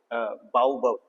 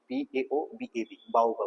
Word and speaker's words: baobab: और तीसरा आपका इसको थोड़ा प्रोनाउंस करने में तो दिक्कत होती है, बाउबव, BAOBAB, बाउबव, ठीक है।